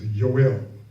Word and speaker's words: Yoel: There will be the Hebrew transliteration, which means that is the Hebrew word expressed by English letters, Yoel. All right, so that tells us there's no J whatsoever.